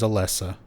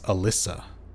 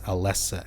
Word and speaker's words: Alessa: Also, a bit of a pet peeve, but her name is Alessa. So many people misspell it as Alyssa. A L Y. It's Alessa. A L E drawings.